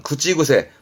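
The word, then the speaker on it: 口癖: 그러면 입버릇이 되겠네요. 발음은 구찌구세. 발음이 땡땡부터 니고리 붙습니다.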